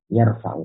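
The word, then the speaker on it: يَرْفَعُ: Al-qismu al-awwalu, pembagian yang atau jenis yang pertama ya, yaitu yarfa'u, ini tadi bacanya yarfa'u ya.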